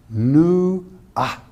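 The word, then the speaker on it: נוע: going to protect it the word sift is n-u-w-a in the Hebrew tongue and it's pronounced okay new ah and and it means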